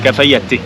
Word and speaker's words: Cafayate: Il y a pas de e hein, c'est mais ça se prononce comme ça. Cafayat.